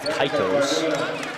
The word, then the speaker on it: Kaitos: Quinn Kaitos is how Pat's pronouncing it, so I'll go with Kaitos.